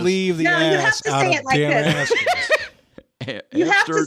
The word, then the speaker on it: Damascus: Damascus, dude. I know, but not Damicus. No, but it's Damicus. I know it's Damicus, but I'm just saying. No, it's Damascus.